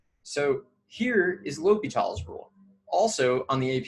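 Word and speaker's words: L'Hôpital: I say L'Hopital's rule. I think everyone says L'Hopital's rule, but I guess some people spell it differently, maybe.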